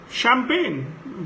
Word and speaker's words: champagne: Champagne, G is silent.